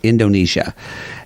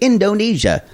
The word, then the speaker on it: Indonesia: Indonesia. Indonesia, yeah. Yeah. But it's just you're in American parlance, we don't accent in a 4-syllable word. We usually schwa.